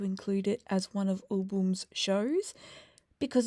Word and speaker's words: AouBoom: Now, I may have referred to them as album in the past, and I just want to say sorry for that because I didn't realize that I was pronouncing U wrong. And it is, in fact, U Boom.